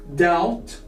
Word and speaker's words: doubt: Moving now to these couple of words, we have debt, doubt, and climb. As you can see here, the letter B is silent. We don't spell the B.